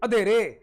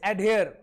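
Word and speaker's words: adhere: अच्छा पंजाबी बच्चे अधेरे, अधेरे सर अधेरे, कहते सर अंधेरे का अधेरे कर दिया। या कुछ बच्चा भाई अधा ते अधेरा। अच्छा इसको प्रोनाउंस कैसे करेंगे पहले मैं सुनना चाहता हूं आपके मुंह से। हाँ जी, very good, it's एडहेयर, it's actually एडहेयर।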